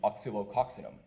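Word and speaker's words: Oscillococcinum: For example, we're part of a lawsuit against Shoppers Drug Mart and Boron Laboratories for selling homeopathic medicine, specifically oxylococcinum. I pronounced it correctly.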